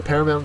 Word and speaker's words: paramount: and this logo so Paramount is an adjective it is a first syllable is accented it means Chief in